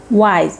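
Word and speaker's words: why's: So why is a contraction from wise? Wise. It sounds like wise.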